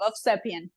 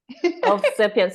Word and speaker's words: Ovsepian: no worries my love of sepan of sepan so I do pronounce the v ah of welcome to